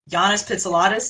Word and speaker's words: Yannis Pitsiladis: And we are here to talk to Professor, is it Yannis Pitsiladis? Is that how you say it? Or Said beautifully with an excellent pronunciation.